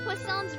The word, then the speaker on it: Poisson: Is it Poisons? I don't want to say Poison. Without you. Poisson's reconstruction Poisson Right, cuz Fontaine has a lot of like French sounding names, right?